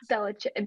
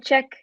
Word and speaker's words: Belichick: The ceiling is the roof with Belichick. How do you say his name? Yeah, that's right. Belichick.